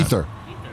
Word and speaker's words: Aether: Aether Unbound. Ether. Mike says it. Great Ether. Ether Unbound. Why don't they just spell it like normal, you know?